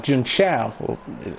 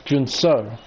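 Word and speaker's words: Junção: He calls it Chow, Jun Chow, and apparently that's very wrong, so I'm not going to pronounce it like that. Pretty sure it's Jun So.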